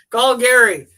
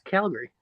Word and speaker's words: Calgary: GoPro to be honest with you Calgary yeah call Gary call Gary where did cap call Gary come from it's Calgary well people also pronounce it Calgary I've heard yeah Calgary I've